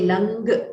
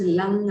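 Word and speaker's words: लङ्: which we use the lang lakara. You should not say lang, you should not hear g there. It is lang. It is just the nakara which is to be pronounced.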